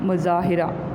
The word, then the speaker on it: مظاہرہ: مظاہرہ, میم پیش زا, زا الف زا, مزا ہا زبر ری, مظاہرہ.